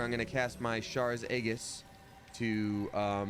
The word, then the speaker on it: Aegis: as soon as we get in there, I'm gonna cast my Shar's Aegis to, it always bugged me that the G is a hard G. Like Aegis.